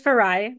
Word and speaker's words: Farayi: I'm calling Farai, but I hear that you say Farah. So what's the deal? My name is Farayi. My birth name is Farayi, but I went by Farah my whole childhood.